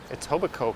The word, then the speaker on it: Etobicoke: it's back to sherbrooke how do you pronounce etobicoke correctly just pretend the k is not there during that documentary don't